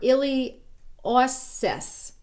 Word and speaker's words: iliopsoas: and she tore her ili assess muscle it's spelled iliopsoas but there's no p friend told me don't pronounce the p but it's the major